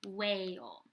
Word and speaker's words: whale: ooh a all so this one's tricky because it doesn't start with just two w it starts with a WH o a and a silent e whale so we have so